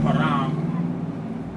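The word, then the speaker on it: هرم: The Arabic word for pyramid is pronounced haram, meaning ultimate age or size.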